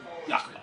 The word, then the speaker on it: Yakima: Outside of Is it Yakima or what? Yakima. Yakima. I said it right the first time.